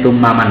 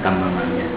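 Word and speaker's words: تُمَّامًا: cahayanya Nabi, wa du'atan ini tummaman bacanya ya, bukan tamamannya, tummaman.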